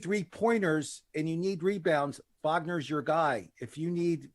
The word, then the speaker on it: Wagner: It's not Wagner. It's Wagner.